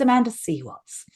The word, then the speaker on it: Amanda C. Watts: It's like, no, you've got my name wrong. It's Amanda Seaw Watts.